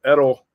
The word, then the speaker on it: Edel: I call him the Iceman because first of all, Edel rhymes with Chuck Liddell and he also looks like Chuck Liddell, the Iceman from the UFC.